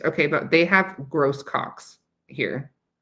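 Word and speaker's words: Grosses Coques: Okay, but they have gross cocks here. Like, who thought of that? I would definitely spell like pronounce that the French way, but no, they don't.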